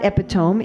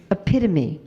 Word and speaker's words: epitome: It's not epiome. It's epitome. Epitomy. It's epitome. I know it's spelled like epone. And if English was a sane phonetic language like Sanskrit or Finnish, it would be epiome. But it's not. It's epitome.